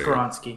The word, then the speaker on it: Skoronski: I know you had the pronunciation skoronski yeah he's just karonsky boom okay I want